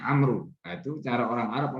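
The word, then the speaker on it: عمرو: Jadi kalau kita menulis ain mim ra tanpa wawu di belakangnya itu bacaannya Umar. Tapi kalau di belakangnya itu ada wawu ain mim ra wawu itu bacanya Amru.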